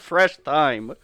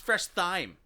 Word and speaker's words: Fresh Thyme: store that you called Fresh thy I said th and you're like that's not how you say it no it's fresh thyme you exact there exact